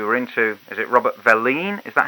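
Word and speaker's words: Velline: We were into, is it Robert Verleen? Is that how you pronounce it? Robert Thomas Verleen, yeah.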